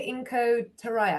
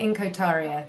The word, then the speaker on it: Inko Taria: Sharon, is it Inko Taraya? I want to pronounce it correctly. Taria. Inko Taria. There you go. I'm glad I checked.